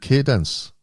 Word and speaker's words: Cadence: But now you're with Cadence. I pronounced that right.